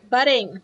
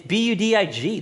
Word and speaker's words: Budig: Budig, yes. How do you say it? Budig? Budding. Buddin. It's Budig. There's no N.